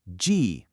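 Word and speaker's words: 迹: And that brings us to the character jì, pronounced jì. Another fourth tone.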